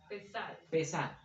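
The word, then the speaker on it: Pesaj: Pesach. Así se escribe el nombre hebreo.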